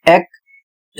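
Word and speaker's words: ache: अगला शब्द है ए सी एच ई एकक। इसका अर्थ होता है दर्द होना। इसमें भी कोई नियम काम नहीं करता है।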